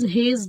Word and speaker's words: Hasse: So here we are with a very special type of diagram called as Hayes diagram. Okay. Some people pronounce it as Hasse diagram.